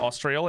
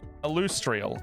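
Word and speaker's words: Alustriel: was saying it wrong it's not austrial it's austrial austrial austrial because lustrous mhm uh Tasha Tasha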